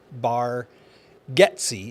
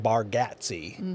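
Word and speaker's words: Bargatze: a r g a t z e Nate bar getsy is how he pronounces it but it looks like baratti right what kind of comedian have we got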